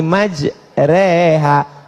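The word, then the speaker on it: مجراها: ada cara membaca imalah Bismillahi majre tulisannya Maja Tapi bacanya miring Bismillahi majrea namanya imalah mal mal artinya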